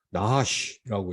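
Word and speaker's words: נחש: 이 뱀은 이 히브리어로 나하시라고 읽습니다.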